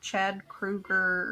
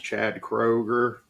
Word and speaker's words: Kroger: Yes, and then downgraded to I think his name's like Chad Kruger or something from Yeah, it's Nickelback. Chad Kroger.